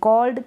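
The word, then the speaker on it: called: Described ये है tried, इसको पढ़ेंगे कॉल्ड। कार्ड ना पढ़ें, कार्ड गलत हो जाएगा, कॉल्ड।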